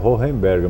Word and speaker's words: Hohenberg: nome agora a pronúncia esse o h é com R ou ou enberg mesmo Olha eu noito eu acredito que deve ficar critério dizem que é renberg mas eu como sou